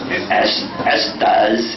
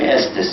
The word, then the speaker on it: Estes: They pronounced it Ustaz. But then over the years, when they became Christians, they began pronouncing it as Estaz, and then it became Estes, and this is still too loud for broadcasting.